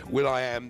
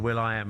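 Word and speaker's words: will.i.am: Will I Am the one and only one of people in the past they've said, "Hey, nice to meet you. Will I Am." And he said, "It's pronounced William."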